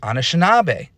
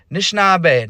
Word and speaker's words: Anishinaabe: These are all ways we can understand the word Anishinaabe. But, going back to our Spider-Man friends here, we have a lot of versions that just start with an N here. Nishinaabe, Nishnabe, Nishnabe, Nishnabe.